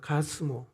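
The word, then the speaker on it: 가스무: 내면서 6장을 읽어보면 6절에 가슴을 하는 사람이 나옵니다 가스모 가스모가 누구냐면 개세미에요 개세미의 아라비아식 발음이 가슴입니다 똑같은 사람이에요 이 사람들이 이스라엘 백성이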